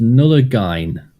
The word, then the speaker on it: Nullagine: Jem says it's pronounced Nullagine.